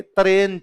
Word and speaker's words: तराइन: गौरी ने हिंदुस्तान दे तरन से तन मतलब तराइन तो पंजाबी का थोड़ा प्रोनाउंसिएशन वैसे हो जाता है हिंदुस्तान दे तरन से